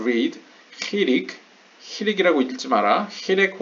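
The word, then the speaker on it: חיריק: 히렉 혹은 히릭이라고 읽습니다 원래.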